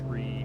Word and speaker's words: tree: or air traffic controller say tree power or fight even though even though by the book that is the correct radio pronunciation of three three yeah what's less